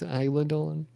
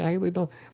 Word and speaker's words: Isla Dawn: Is it, I okay, I think it's Isla Dawn, and people call her Isla Dawn, and you called her Isla Dawn.